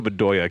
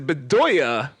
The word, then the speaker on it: Bedoya: good and ended because bedoya is just but doings but i do i did bedoy and then oya like i just confu i used the last syllable twice to use the and